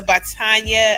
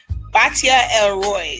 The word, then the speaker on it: Batia Elroy: Shout out to Batanya. I always get her name wrong, but you want to say it? Batia Elroy.